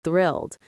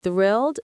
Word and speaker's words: thrilled: That TH sound at the beginning and it ends with the D sound.